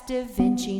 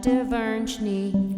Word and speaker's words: da Vinci: vinci in 1490 that's da vinci not de virgini i didn't mean to